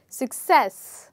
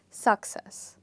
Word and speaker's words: success: As you can see that the second part of the word is stressed, so the word is pronounced as success and not success.